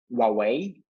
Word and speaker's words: Huawei: We had Huawei, which is like I found that this is the proper pronunciation of Huawei. This is Huawei.